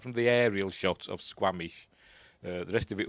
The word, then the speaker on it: Squamish: this is actually Squamish is that how you pronounce it uh just double check yes Squamish British Colombia so they want you to think